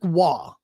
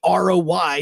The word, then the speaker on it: Roy: Patrick Waugh, which throws me off now because there are actually hockey players with the name Roy, R-O-Y, and they pronounce it as Roy. And I'm going, I will always say it as Waugh first because of Patrick Waugh.